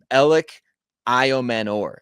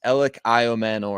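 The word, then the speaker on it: Elic Ayomanor: By the way, uh Elliot Manor, that's how you pronounce it. I've I've looked it up. I looked up the phonetics. Ellioman, that's how you say it.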